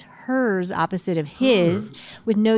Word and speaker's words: Herz: wonderful people that listen so they also get aligned with hers opposite of his is how it's pronounced you know I'm I'm